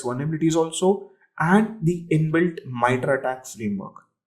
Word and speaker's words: MITRE: It's not mitre, it's mitre. The reason I'm saying this, at least be with the people around who know the pronunciation, right?